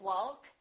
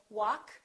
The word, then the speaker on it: walk: adjust adjective all right silent L we don't say walk and talk we say walk talk could would should silent